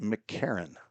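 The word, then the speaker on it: McEachron: MC and then E A C H looks like each each run R O N but he pronounces it McCarron.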